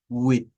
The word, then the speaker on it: with: Luego tenemos with, miren, with. Esta th es la th vibrante que está aquí y es esta misma que está acá.